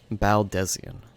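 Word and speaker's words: Baldesion: It doth concern our distant allies, the students of Baldesian. Baldesian. I've been completely mispronouncing that name then. Baldesian.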